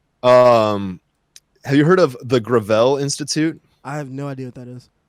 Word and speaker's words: Gravel: Well, it's pronounced Gravel, but yeah, he was